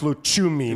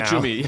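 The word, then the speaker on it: Lucumí: pronounced Luchumi now. Luchumi, yeah, exactly.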